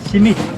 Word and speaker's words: simit: How do you pronounce this? Simit.